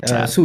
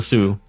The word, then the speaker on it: Siu: Mind if I Sue Esports? Yeah. Sue Esports like Ronaldo Sue. Yeah, exactly. Yeah. Okay. Gotcha. Okay. Now I know. Um you've worked with a lot of rosters with Sue Essports.